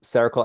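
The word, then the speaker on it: Cercle: That's like sounds like the word circle but it's spelled C E R C L E. So cerakal allocation services is the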